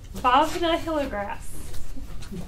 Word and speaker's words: Bhavna Hilligrass: All right, and last but not least, Bhavna Hilligrass. Did I pronounce that right? Yes.